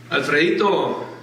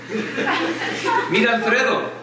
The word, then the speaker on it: Alfredo: and who are all these people al alfred alfredo alfredo red el buenito who used to pronounce in a spanish accent so meet alfredo